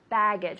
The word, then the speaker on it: baggage: Baggage, with the emphasis on the first syllable.